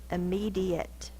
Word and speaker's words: immediate: d e o immediate i m e d e that's the e sound but spelled with a I uh that's schah it's spelled with a a t and a silent E immediate me is the stressed syllable immediate so this is the